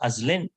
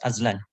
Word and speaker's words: Azlen: But I have asked him whether it should be pronounced Azlen or Azlan. So he confirmed to me it's Azlan.